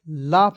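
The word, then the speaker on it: laugh: उसके बाद देखेंगे एल ए यू जीी एच लाफ मीस होता है हसना टी ए एल के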